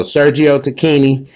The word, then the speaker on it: Sergio Tacchini: to look it up on YouTube and it's pronounced Tini. So, Sergio Tini, shouts out to them, man.